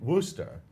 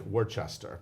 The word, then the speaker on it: Worcester: would that rooster and Worcester but that's exactly what a lot what if I just say it like that because it looks like we're Chester yeah not yeah anyway it's not but this album so